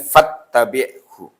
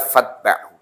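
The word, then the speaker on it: فاتبعه: Ya terus dalam Bulughul Maram walaupun nanti sebagian terbitan ditulis dengan fattabi'hu. Ya. Tapi yang benar adalah fatba'hu.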